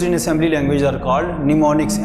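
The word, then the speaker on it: mnemonics: The short phrases which are used in assembly language are called निमोनिक्स। M silent है इसमें ना।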